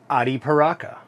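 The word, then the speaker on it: Arapiraca: word is adi paraka ari paraka the r confuses people there's several different ways to pronounce that term but just remember the r is pronounced like the letter d as in dog not r that's where people get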